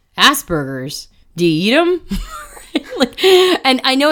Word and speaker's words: Asperger's: I can't seem to say the word without it sounding like ass burgers like Asperger's diem and I know